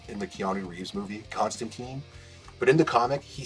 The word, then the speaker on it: Constantine: Constantine, but in the comic, he says Constantine. It rhymes with twine. That's how it's supposed to be pronounced.